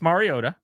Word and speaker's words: Mariota: We call him Marcus Mariota with a tea that barely is there.